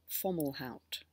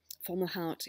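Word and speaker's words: Fomalhaut: are opposed by a fixed star called falout falout is spelled f o m a u l h a u t and it's 3° 51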